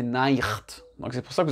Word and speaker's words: Nacht: Donc les Allemands, ils vont le prononcer Nacht.